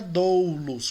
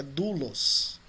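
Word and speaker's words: δοῦλος: A pronúncia não é doulos, como alguns dizem, é doulos.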